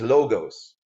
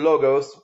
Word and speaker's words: logos: I don't know how to speak Greek, but many people pronounce it as logos. However, many linguists pronounce it as logos or lagos, Lawghs.